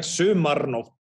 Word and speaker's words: Sumarnótt: few questions specifically about Zumarnod. Am I pronouncing it correctly? Yeah, totally right. It's just like perfect, and it's like it's gorgeous with a French R. Because in Icelandic, it's like Sumarnótt, Sumarnótt.